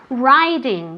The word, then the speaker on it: riding: Riding, what is riding? Do you know at home? ¿Qué es riding, Pilar? montando. Entonces, riding se escribe con una I, pero se dice como si fuera A-I. Riding.